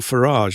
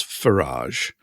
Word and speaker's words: Farage: Just going back to Nigel Farage as well, because I meant to say this. I think it's pronounced Farage, but if it's pronounced Farage, he would have a garage, wouldn't he?